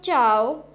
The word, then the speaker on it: zhao: The next Pinyin is ZHAO, has a pronunciation of chow, chow.